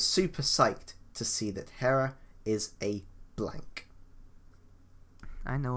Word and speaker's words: Hera: only fitting okay okay you said hero and Hera and now you've just gone hero you're you're really confused about this pronunciation be okay here I want to say hell if you wanna say Hera right Hera being a blank